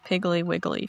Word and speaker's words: piggly wiggly: And then Jason says, "I have piggly wiggly feet." And you have to pronounce it like that. Piggly wiggly. Piggly wiggly wiggly. Piggly. Yeah. Three syllables, not two.